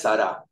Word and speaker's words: Sara: dichos los dos pero en hebreo correcto se acentúa la última sílaba siempre no es hana es hanana no es Sara es sará pero la mayoría hablamos